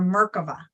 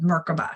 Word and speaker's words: merkavah: begin to build our merkavah right which is the Hebrew version of merkaba some people call it merkaba or merkaba I like to pronounce it the Hebrew name which is merkava but nonetheless it is